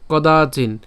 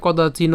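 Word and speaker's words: কদাচিন্: মৃ মৃতে বা কদাচিন এখন এখানে কদাচিহ্ন হবে না কেন হবে না কারণ এখানে কি আছে হস চিহ্ন আছে হস চিহ্ন থাকলে পুরোপুরি উচ্চারণটি হয় না অর্থাৎ বদ্ধবর্ণ যেহেতু সেজন্য হচ্ছে আমাদের এখানে কদাচিন উচ্চারণ হবে কদা চিহ্ন হবে না ঠিক আছে তাহলে আমি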